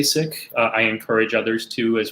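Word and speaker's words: Sikh: preference it's to say sick and the reason why is because uh that's the original pronunciation in punjabi as opposed to the colonial pronunciation i i think that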